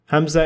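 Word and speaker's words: همزة: Hamzah is pronounced as A in apple, also known as glottal stop.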